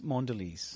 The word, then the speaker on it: Mondelez: How do you pronounce it? It's Mondelez.